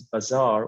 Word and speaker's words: bazaar: the word bizarre okay so we have two words that have similar pronunciation this one is bazaar which is the marketplace but the other one is a verb which means very strange okay bizarre you can see sorry